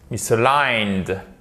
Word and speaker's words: misaligned: Décalé, ou to be misaligned, être décalé, misaligned, et vous faites très attention, misaligned, c'est l'accent tonique qui est sur la deuxième, l'accent tonique est sur la dernière syllabe.